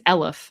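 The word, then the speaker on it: Elif: It's I think it's Elef Shafak, I think. I think it's Elef and I've been doing Alif or something like that.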